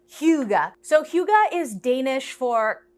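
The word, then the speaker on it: hygge: get breakfast at hyuga that's how you say it right yep hyuga so hyuga is danish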